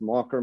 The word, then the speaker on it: Makher: in Erica R is in Roger so that's mocker Mike at Mike marer um you can reach